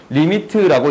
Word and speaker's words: lim: 림이라고 적는데 LIM 리미트의 줄임자예요. 오케이? 리미트라고 읽을게요. LIM이야.